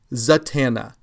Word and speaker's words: Zatanna: appearance in this story Zatanna, I would look elsewhere at where you're getting your comic book knowledge. There is no N there before the T. It's Z-A-T, Zatanna. Z-A-T-A-N-N-A, Zatanna, not Zatanna.